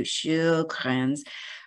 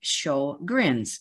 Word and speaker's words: Sjögren's: of the challenges well it's a Swedish name and I apologize to anybody of Swedish or origin because it's probably pronounced closer to shukrans but we've anglicized the name to have show grins so you can show